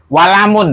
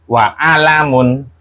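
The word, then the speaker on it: أَلَمٌ: Mau dia di tengah misalkan, nggak boleh. Walamun nggak boleh. Tetap bacanya apa? Wa alamun.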